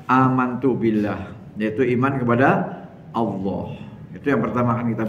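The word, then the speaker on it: الله: nyebutnya Allah Allah ya sebenarnya bukan O ya huruf depannya itu bukan O bukan tapi Alif Alif huruf depannya Alif Alif sama fathah bunyinya apa a Alif sama fathah bunyinya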